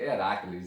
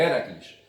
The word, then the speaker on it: Héracles: ontem sabe de héracles eu falei heracles entendeu mas me parece que a pronúncia correta é héracles é uma proparoxitona certo era aqueles é